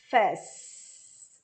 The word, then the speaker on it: office: Lembrando que office, A é um O bem aberto, algo entre O, A, office. Tenho duas sílabas.